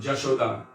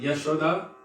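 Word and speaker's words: Yaśodā: Also, Bengali pronunciation, they don't say ya. So it's Ami Jamuna Puline Ja. And Jashoda. This is more of a Bengali pronunciation. And Yashoda and Yamuna, then you would find that here.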